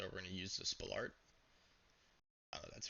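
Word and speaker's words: Spalart: So, we're going to use the Spalolart. That's how you pronounce it.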